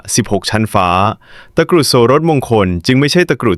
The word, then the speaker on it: โสฬสมงคล: วัด สะพาน สูง ตะกรุด โสรสมงคล อ่าน ว่า ตะกรุด โสรสมงคล เป็น เครื่อง ราง ชั้น สูง ที่ มี ราก